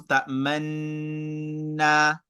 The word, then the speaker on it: تأمنا: ta'manna in sound, but you're going to position your mouth like you pronounce ta'manunna. So it means while you are on the noon, ta'man, you start your gunna, then you position your mouth like someone that is pronouncing dhamma. Then you bring your mouth back while you are still pronouncing your gunna.